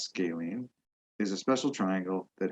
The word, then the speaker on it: scalene: about the sides a scalene triangle this word's pronounced scalene is a special triangle that has three different